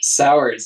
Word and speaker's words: Sawers: Sawers. It's unique. It's how it looks.